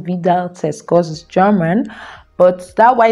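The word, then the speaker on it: Widal: out says that we still it is actually pronounced vidal test german but that why that is we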